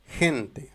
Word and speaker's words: gente: Mais si nous avons la lettre E ou I, la prononciation c'est J. Par exemple, gente, la gente.